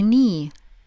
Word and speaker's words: knee: A knee – колено. Knee – здесь на то правило, что K не читается перед N, да?